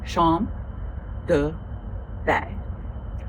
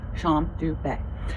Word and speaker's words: Champ de Baies: for sure, but I did look up the pronunciation of the fragrance, and it's Shom du Baies. It's Shom du Baies. Shom du Baies.